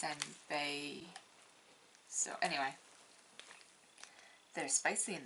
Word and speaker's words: senpai: spicy mini heart sunbae i know how it's spelled but i've always said senbai which is clearly wrong because it's senpai so anyway they're spicy